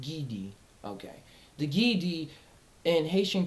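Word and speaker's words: Ghede: The Haitian, the pronounced Gidi.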